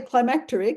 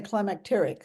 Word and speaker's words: climacteric: no no I did some people say climacteric and others say climacteric so it's it's sort